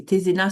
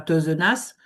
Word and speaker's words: Tézénas: Parce que, par exemple, moi, c'est pareil, hein, c'est Tézénas, c'est pas Teuzenas.